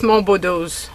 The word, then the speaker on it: Monboddo: So I suppose it's Monboddo's hat, hopefully. Pronouncing it in the French fashion.